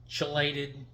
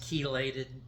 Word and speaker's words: chelated: Uh I've got I've heard this pronounced two different ways. I've heard it pronounced chelated. I've also heard it pronounced keylated. I think keylated may be the correct pronunciation, but whichever it is,